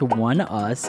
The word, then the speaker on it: ONEUS: love that song okay one us pronounced one us is a south korean